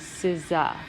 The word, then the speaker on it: SZA: In one of my classes, said her name was Scissor. Apparently her name is SZA.